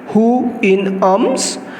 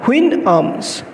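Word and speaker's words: Houyhnhnms: of the Queen arms it can be pronounced in two ways who in arms or twin arms it narrates the experiences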